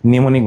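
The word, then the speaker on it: mnemonic: ওকে, নিউমোনিক বানান এম নিউমোনিক।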